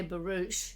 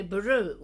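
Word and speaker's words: barouche: they're telling you no you mustn't say barouch you have to say baru Okay so I went and looked it up in my Jones pronouncing dictionary which is this book that that I rely on what tells you the way educated people in England pronounced words in about 1910 yeah and he definitely gives barou as the first one with the sh sound but he does also as an alternative G baru okay I can tell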